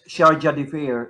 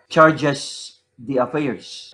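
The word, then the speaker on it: chargé d'affaires: Sharjah d'affaires, that is pronounced as Sharjah d'affaires, not hindi siya charges the affairs.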